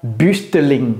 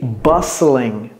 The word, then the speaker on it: bustling: exemple next alors ceci ne prononcez pas le T s'il vous plaît ok ne dites pas bustling non ce n'est pas correct c'est bstling B comme le bus et puis Ling oubliez le T bustling bustling c'est animé ok